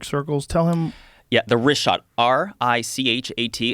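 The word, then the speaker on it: Richat: of these concentric circles tell him yeah the wrist shot r-i-c-h-a-t it's worth mentioning that yeah in the first couple i just want to say it's wrist shot i used to call it rick hot i was mispronouncing it but let me ask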